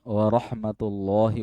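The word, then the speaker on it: وَرَحْمَةُ اللهِ: Asalamualaikum warahmatullahi wabarakatuh. Ya, ini masih ada Indonesianya nih. Karena warahmatullahi la kalau jalalah sebelumnya fathah tebal warahmatullahi kayak ro bacanya ro sh th warahmatullahi gitu ya.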